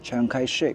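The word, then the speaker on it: Chiang Kai-shek: 圈中呢蒋介石读作 Chiang Kai-shek。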